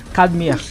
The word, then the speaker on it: Cadmia: Yeah, I'm pronouncing that wrong. Cadmia. There we go.